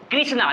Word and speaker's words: कृष्णा: कृष्णा, तो यहाँ पे इसको क्री पढ़ते हैं, क्री, तो क्री का होता है KRI। ये आपको प्रोनाउंसिएशन से पता चलता है, देखने से पता नहीं चलेगा।